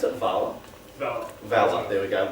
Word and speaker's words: Valher: Do I pronounce it Valher? Valher, there we go, like the man with the Valher.